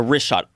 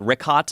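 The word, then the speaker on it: Richat: Yeah, the wrist shot, R-I-C-H-A-T. It's worth mentioning that. Got it already here. Yeah, in the first couple, I just want to say it's wrist shot. I used to call it Rickot.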